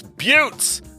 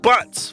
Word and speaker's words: Buttes: to drum up business, It's buttes, not butts.